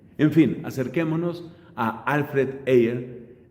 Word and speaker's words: Ayer: Hoy vamos a hablar de un pedagogo y filósofo británico llamado Alfred Ayer. Se escribe su apellido como el día ayer, así se escribe, pero pues lo pronunciamos distinto.